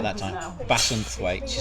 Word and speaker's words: Bassenthwaite: In Bassenthwaite. Did I say that right that time? No, Bassenthwaite. Bassenthwaite. This is going to be a funny one again, isn't it? Bassenthwaite. No, Bassenthwaite. Bassenthwaite.